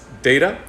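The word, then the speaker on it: DETA: education and technological advancement or de ta which they pronounced data that quality and success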